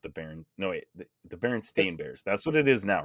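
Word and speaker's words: Berenstain Bears: know man could be but I swear I read the baron Steen bears as a kid instead of the baron stain bears but guess that's not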